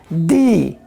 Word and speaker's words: the: तो यहां पर दी उच्चारण आ रहा है, ए एंड दी।